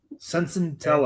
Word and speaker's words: Senzatela: We sent out Senzatela, Brenton Doyle, and Victor Vodnik. Senzatela. There's a T in it. Senzatela.